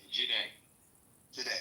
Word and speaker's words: Jide: After you, is it Jiddy? How do you pronounce that? Jide.